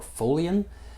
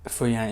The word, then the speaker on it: Feuillien: So the abbey is actually named after after Saint Feuillien or Feuillien, and Feuillien is the French pronunciation of that name.